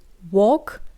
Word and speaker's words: walking: друзів йшли через ліс Зверніть увагу що в дієслові WOG літера L не читається when you the Dangerous